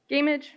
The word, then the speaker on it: Gamage: public speaks is matthew gamage apologies if i got that wrong township in maplewood my name is matthew gaimage rhymes with damage i live in maplewood